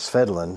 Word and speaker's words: Svedlund: runs around and says swedin so we make the V sound like a w it's so glad you